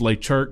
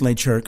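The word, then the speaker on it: Le Cirque: places there but it's it's late Chuck but it's actually spelled like la circ so if you see it so it's and you know it's late jerk because you know somebody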